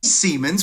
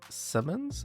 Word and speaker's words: Siemens: Siemens, what are you doing, buddy?